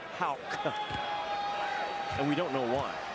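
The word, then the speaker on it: Haugh: dozen and it is Hal if you're watching this I know it's spelled h a u g h but is pronounced Hal and we don't know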